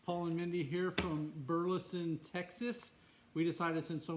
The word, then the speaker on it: Burleson: It's not a silent E.